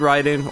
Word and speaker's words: Raiden: exact same way so if you played ryden or raiden however you'd like to pronounce it uh twin cobra is